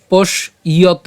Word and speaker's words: পশ্যত: কেন ইয়ত? ওই যে একই রকমভাবে আমরা পশ পর্যন্ত উচ্চারণ করছি, তালব্যাস হসন্ত পর্যন্ত উচ্চারণ করলাম, এবং এখানে জফলা থাকার কারণে আমরা এই উচ্চারণটা কেমন করছি? ইয় উচ্চারণ করছি এবং তয়কার, তাহলে পশ ইয়ত, পশ ইয়ত।